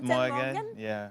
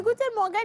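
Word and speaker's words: Guten Morgen: Guten Morgan, tu réponds Gen Morgan ? Ah, tu n'as même pas encore la bonne prononciation que tu es au chocol hein. On dit go Morgan. Il dit good Morgan.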